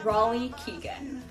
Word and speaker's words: Raleigh Keegan: name a few you we're joined today by Ry Keegan well kudos to you Summer for pronouncing my name right you killed it I